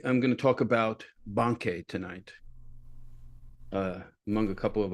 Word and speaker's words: Bankei: and over again, because I have a conditioned response to pronounce his name Bankai or Bankei or some Banki or some other things. So I think a lot of people have that problem. But anyway, the correct pronunciation, as I understand it, is Bankei.